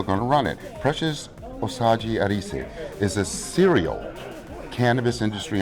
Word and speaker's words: Osage-Erese: OSAGE-ERESE.